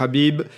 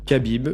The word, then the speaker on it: Khabib: quasiment tous qu'habib donc moi j'ai pris l'habitude de dire qu'à bible mais puisqu'on me dis que c'est pas comme ça qu'il faut le prononcer yowlè qu'ils disent habib l'utilisera bib donc ça